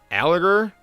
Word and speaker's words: Allgeier: I believe I'm saying his name correctly. Tyler Allgeier. Correct me in the comments if I'm wrong, if I'm saying that incorrectly. Spell it out for me with every single syllable. But I'm going to say it's Allgeier for now.